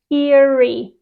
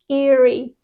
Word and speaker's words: eerie: like woo scary so the pronunciation is just like ear with a e at the end so Eerie Eerie for example this Castle